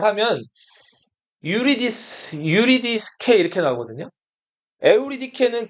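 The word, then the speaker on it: Eurydice: 에우리케는 그리서로 발음나는 대로 다 읽은 거고 이제 영어로 표현하면 유리디스 이렇게 표현하는데 자 클레오파트라 에오리케 클레오파트라는 그리스권에서 많이 사용되는 이름이었어요.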